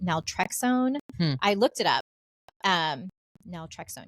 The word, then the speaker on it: naltrexone: And then she goes, what I'd also recommend is putting on this, it's pronounced naltrexone.